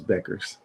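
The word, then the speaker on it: Bueckers: It's Beckers. Is it Becker's? Knew that.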